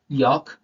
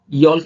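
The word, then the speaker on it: yolk: next है walk chalk यक है ना यल्क नहीं पढ़ रहे योक पढ़ रहे है एल साइलेंट याद में मतलब माइंड में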